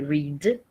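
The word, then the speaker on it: read: Keller r a de rede ele vai escrever igualzinho índia só que como que a gente pronuncia no passado a gente vai pronunciar Red do mesmo jeito que se pronuncia a cor vermelha Red pequenos detalhes só e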